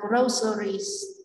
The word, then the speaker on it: groceries: Câu D chúng ta đọc là groceries, groceries trong âm số 1.